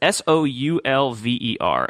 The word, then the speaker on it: Soulver: And I don't know if it's pronounced Solver. I say Solver in my head, but I also said Oxygen in my head, so my head's not always right, I guess. It's Solver. So it's Soulver.